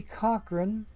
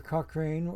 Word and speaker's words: Cochrane: way either Cochrane or Cochrane with a silent e okay but there we